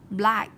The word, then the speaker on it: black: Cái con đọc là black nhá. Black. Nó là âm e bẹt.